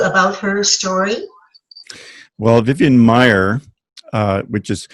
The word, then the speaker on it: Maier: what captured you about her story well vivian maier which is spelled ma i er worked as a nanny